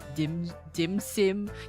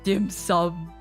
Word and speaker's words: dim sum: Dim sim. You didn't even say it correctly. It's dim sum.